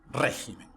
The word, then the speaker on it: régimen: fútbol, gaucho, límite, oxígeno, régimen. Viu que a sílaba tônica é diferente de como se pronunciaria essa palavra em português?